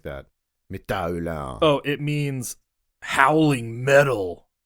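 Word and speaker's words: Métal Hurlant: It's probably like Ulan or something like that. Metal Ulan.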